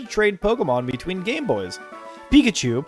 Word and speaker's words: Pikachu: Pikachu, pronounced peak uh chew, a little Pokemon monster,